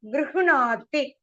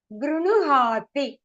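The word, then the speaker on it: गृह्णाति: You must pronounce as grinuhati. The unnu is it is a murda. So, start from the murda and then hati. So, ha will be soft.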